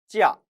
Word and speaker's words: 假: 假 짜 여기에서는 사성으로 발음되었으니 방학이라는 뜻이죠.